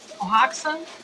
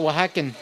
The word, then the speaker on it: Oaxaca: X A C A N, Oaxacan. Oaxacan, Oaxaca, Oaxaca? like Oaxaca. Oaxaca, like it's a state in Mexico, Oaxacan.